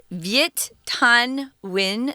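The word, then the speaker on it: Viet Thanh Nguyen: here his name is viet tan win that's the english pronunciation guys neither tom nor i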